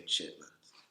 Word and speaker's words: chitterlings: Yeah, and so you could Google it, but it's spelled chitterlings, and we just say chitlins.